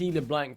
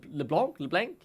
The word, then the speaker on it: LeBlanc: I am Danish, and the way I pronounce the A in Danish is different than what you do in the UK, and that is what leads to the mispronunciation of the champion.